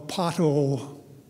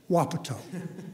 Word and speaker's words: Wapato: they had a windstorm that went through a pothole Washington which is actually pronounced Wapato it's one of those Indian names like koala